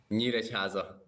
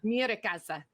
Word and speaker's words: Nyíregyháza: How do you pronounce the name of the town that you're from? Nyíregyháza. Oh my gosh, I can't for it. Nyíregyháza.